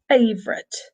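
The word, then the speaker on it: favourite: you this favorite and the the pronunciation as well we often don't even pronounced but oh in the middle we just say favorite because it's much quicker it's faster to say but you know you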